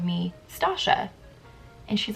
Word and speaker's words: Stacia: My name is pronounced Stacia. S-T-A-C-I-A. So like Tasha, but with an S.